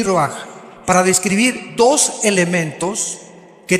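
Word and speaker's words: רוּחַ: Aquí se usa otra palabra hebrea que es se escribe roach con R de Raúl A. Se pronuncia roaj.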